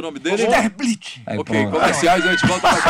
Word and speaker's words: Sterblitch: Como pronuncia seu nome de verdade? É Sterblitch.